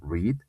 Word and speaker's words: read: Digo en infinitivo read, en su pasado digo red como el color rojo, y en forma de su pasado participio digo red de igual manera.